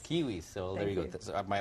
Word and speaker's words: Quihuis: us so we can the last name is kiwis kiwis so there you go my apologies for that